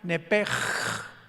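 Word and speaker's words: נפש: en el hebreo es nepesh, con SH al final, como suena nepesh. Pero la SH en hebreo se pronuncia como J, entonces se pronuncia nepej, como el francés, ¿verdad? Que es gutural, nepej.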